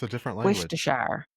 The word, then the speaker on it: Worcestershire: So, That's how it's always been pronounced. Pho. Pho. Pho. That sounds wrong. That just sounds wrong. It's a different language. Worcestershire. Worcestershire.